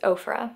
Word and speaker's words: Ofra: having another last video nikkietutorials herself has confirmed that it is ofra which i was pretty